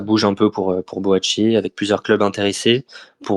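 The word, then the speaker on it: Boakye: Je l'ai prononcé Boaqué tout à l'heure, mais du coup comme Sylvain avait dit en début d'émission, boachier, il faut bien le prononcer. Bo boachier.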